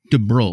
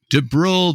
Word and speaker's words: DuBrul: right and the vineyard you already said it de BR de BR mm D BR du b r